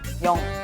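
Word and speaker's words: 영: (*T/N: '0' is pronounced 'Young' in Korean) O, one, two, three Young...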